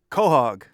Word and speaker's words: quahog: Can you say correctly how to pronounce the second word in your glossary? 1, 2, 3. Quahog.